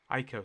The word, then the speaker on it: Aiko: And I suppose Akio could go. No, is it Akio? Aiko, sorry, Aiko. I always say this bloody name wrong.